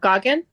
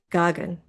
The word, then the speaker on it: Goggin: Okay, how about if we go, is it, is it Goan? How do you say your name? I'm really good at butchering names, so. Goggin? Goggin. Okay.